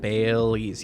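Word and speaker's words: Baileys: Is that how you say it? Bailey's. Yes.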